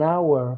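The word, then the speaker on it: hour: no no es and our por qué porque si escuchen la pronunciación de agua el agua no suena la h son la lado agua and our la h es muda entonces el sonido es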